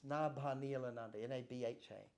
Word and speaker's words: Nabhaniilananda: So it's Nabhaniilananda, Nabhanilla. Now in Bengali, there's a similar word, it's Nava. And they pronounce V and V the same most of the time. They get mixed up about it. This is Sanskrit. And they were calling me Nabhaniilananda, which has a different meaning.